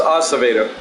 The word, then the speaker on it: Acevedo: a pretty good pitcher I think it's pronounced Acevedo I heard the public address announced so Acevedo Fisk at the plate